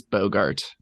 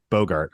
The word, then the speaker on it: Boggart: we're we're Beyond scryfall have pronunciations it is Bogart Bogart okay cool yeah like quit Bogart in that doobie broh well wait yeah